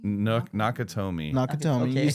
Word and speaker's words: Nakatomi: Nakashami? Nakatomi.